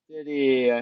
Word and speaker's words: Giddey: You know what rhymes with Giddey? Did he? Giddy, Kitty. Allie the dog.